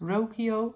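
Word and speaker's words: Rocío: to knit the roio I think it's pronounced rokio I'm not sure r o c i o and I designed a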